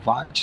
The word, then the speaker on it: Watt: A gente pronuncia assim o Watt, W-A-T-T, né?